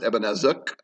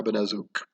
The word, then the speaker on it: Ebenezzuk: Although when I spelled it out phonetically, I actually suggested that it's UHK at the end, so ook.